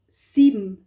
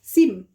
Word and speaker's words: sieben: You write ben, but you say sieben, you swallow, you don't pronounce the E, So sieben, number 7.